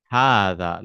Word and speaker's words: هذا: But this is how it is written, but we pronounce it as hada, like this.